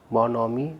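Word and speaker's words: bonhomie: बॉनहोमी, बॉनहोमी नहीं पढ़ना है इसे, इसमें एच का उच्चारण नहीं हो रहा है।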